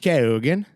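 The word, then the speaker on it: Keoghan: Kogan.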